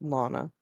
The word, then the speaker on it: Luana: It's spelt like that, but it's pronounced Lana.